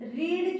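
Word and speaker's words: read: जैसी होती है लेकिन अगर हम रीड की बात करते हैं रीड की बात करते हैं तो उसकी सेकंड फॉर्म रेड हो जाएगी स्पेलिंग बिल्कुल नहीं बदलेगी लेकिन प्रोनंसिएशन उसका बदल जाएगा क्लियर तो जब प्रोनंसिएशन बदल जाएगा तो आपको ध्यान रखना पड़ेगा इसको जो पास्ट फॉर्म है इसे आपको रेड बोलना पड़ेगा रीड रेड रीड फिर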